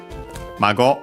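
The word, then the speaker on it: 孫: And yeah, Mago, accent on the last syllable on its own, while Omago-san, as you can see here, also straight up with the honorific prefix here, unaccented.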